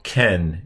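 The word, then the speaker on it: כן: This is a final noon, so ken is the word, and that means yes.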